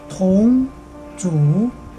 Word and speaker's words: 同族相残: 간체자 발음은 동주시앙찬, 동주시앙찬으로 발음합니다.